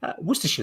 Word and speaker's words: Worcestershire: it's just horrific um worcestershire is pretty bad as well yeah but i mean you could work with yourself yeah if you understand that you know it's it's sheer not shyer and you know all